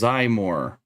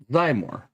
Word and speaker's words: Xymor: Zymor, Azurul, Faluzar.